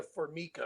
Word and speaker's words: Formica: you look up Mariah Mariah for Mika which is spelled like formica f-o-r-m-i-c-a if you look her